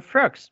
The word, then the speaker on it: frogs: may see is that even though both words finishes with the letter S the sound when we pronounced it is like a Z sound yeah but when you